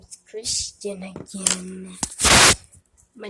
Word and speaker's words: Christian: Hello guys, my name is Christian again. My name is Christian. It's spelled CHRISTIAN, Christian.